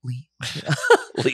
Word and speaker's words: Liao: my name oh yeah Lee okay two syllables yeah Le I was like I know how to say it like you know I'll take it from here Le like meow uh grateful to having